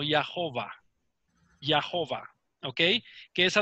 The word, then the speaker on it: Jehová: o entre las consonantes eso me da como resultado lo que se pronuncia como ya hoba hoba ok que es